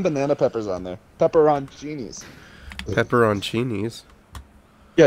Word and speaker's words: pepperoncini: Pepperoncinis. Yeah, it's they're called pepper. It's pronounced peppercini, but if you look at the word, it says pepperoncini.